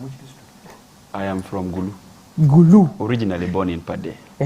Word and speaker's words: Gulu: And I thank him for pronouncing Guru very well. Some people call it Guru. When somebody calls it Guru, investigate the DNA.